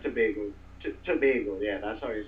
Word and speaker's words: Tobago: Tobago how do you say it Trinidad it's Tobago Tobago yeah that's all you said um flying